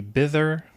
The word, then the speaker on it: Bither: going over how to get the bitter and that's that's how you pronounce I think bitter Bitcoin wallet installed on